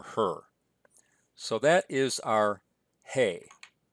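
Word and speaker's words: ה: on the top left the hay is pronounced as a hard H as in he or her if a hay appears at the end of a word it can serve a different function and that way it's going to be like at the end of the word Sarah and it won't be pronounced at all but that's really a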